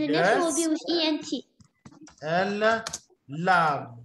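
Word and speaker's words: lavent: Elle lave. Lavons. Lave. We don't say lavons. Huh? Lave. Oh, okay, lave. Okay, so we don't pronounce the ENT.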